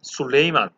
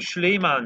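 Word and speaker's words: Süleyman: 그은 오 오수만 제국의 술레이만 그 정확한 발음을 슐레이만 이에 이렇게 해야 되는데 아무튼 여기서 술레이만 넣었고요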